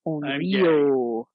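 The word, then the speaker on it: 怨霊: Onryou. Onryou. Onryou. It's a long O. The line over the top of the O means that you hold it a little bit.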